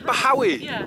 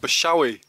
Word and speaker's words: Bachawy: through that saddle there as they pronounce it always it Howie is it I've been calling it bozo II know so it's a silent CH right so that's why